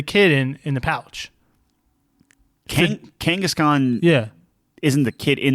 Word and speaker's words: Kangaskhan: you pronounce this Pokemon gangas Khan no the Pokemon Kangaskhan Kangaskhan yeah Kangaskhan is